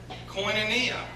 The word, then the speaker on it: Koinonia: what's that word and I said coin Ania and she goes oh that's how you say it I said yeah and